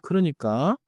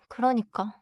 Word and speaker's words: 그러니까: 그러니까 the stress is not heavy. Just flow through it. Repeat after me. 그러니까.